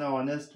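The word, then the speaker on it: honest: जैसे Sanjay is एन ऑनेस्ट man. Sanjay कैसा लड़का है. Sanjay is एन ऑनेस्ट. यहाँ एच का साउंड नहीं हो रहा है. एच इज a silent.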